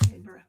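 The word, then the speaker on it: Niimura: This is called Immortal Sergeant, and it is written by Joe Kelly, art by Ken Nimura. Don't shoot me if I got that name wrong. It's two eyes. N-I-I. Nimura.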